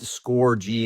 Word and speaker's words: Scorgie: I'm just Score G and it it's a play on my name. My name is spelled S O R G I E, but it's pronounced like score space big G.